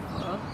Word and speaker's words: pho: But then is this, okay, am I pronouncing it correctly? Pho?